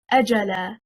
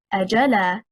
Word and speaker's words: أَجَلًا: The correct stress is on the first حركة, حركة الهمزة. If we say أَجَلًا, stressing on the second حركة, حركة الجيم, we separated the word into two.